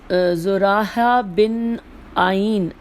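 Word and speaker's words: زرارہ بن اعین: سنو اور اطاعت کرو۔ زراحہ بن آئین، میں ہجے کرتی ہوں، زے پہ پیش ہے، پھر رے ہے، الف اور پھر ہے زراح بن آئین، الف عین یہ نون، آئین رحمۃ اللہ سے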